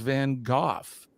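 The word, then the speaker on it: van Gogh: let's get ready to name van gawk now I've heard it I've heard it pronounced van goof um there's a Scottish gentleman that uh that I'm familiar with and he calls him van goof so I suppose is probably a regional thing um where you're from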